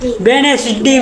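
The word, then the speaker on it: Wednesday: resign और जी silent W ई डी एन ई एस डी वाई वेनेस जे डी वेनेस डी में डी silent ठीक है वेनेस डी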